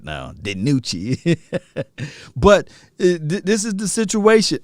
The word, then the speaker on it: DiNucci: She pronounced his name right now, DiNucci.